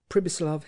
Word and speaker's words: Pribislav: He with whom Hans Castorp spoke was called Hippe, Pribislav Hippe. The peculiarity of this given name was that you were to pronounce it as though it was spelt Sibislav, and the singularity of